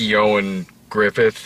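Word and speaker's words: Ioan Gruffudd: ass the carrie elwiss of the movie is yo and griffith is that apparently apparently that's how you pronounce it i had to look that one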